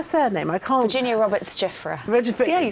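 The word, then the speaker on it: Giuffre: Virginia Roberts Giffra.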